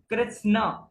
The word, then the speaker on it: कृष्ण: स्वभाव फिर अभावे अभावे कृष्ण इसको कैसे पढ़ना है कृष्ण कृ त स और न कृष्ण थोड़ा सा आपको बोलने में जीभ अटक सकती है आपकी लेकिन उच्चारण इसका ऐसे ही है अगर आपको सिंपल